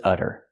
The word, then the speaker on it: udder: Now let's talk about this udder. This one's spelled differently. It has a double D. And we do the same pronunciation, the fast D sound. Udder, udder.